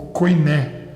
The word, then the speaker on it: koiné: E o Novo Testamento, na sua maior parte, foi escrito no grego popular chamado koiné, ou koiné, como alguns também pronunciam.